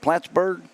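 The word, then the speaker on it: Plattsburgh: is that is that how you say it platsburg y New York yes sir so you guys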